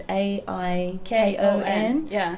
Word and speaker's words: Aikon: So it's spelt differently to how you expect, isn't it? It's Aikon.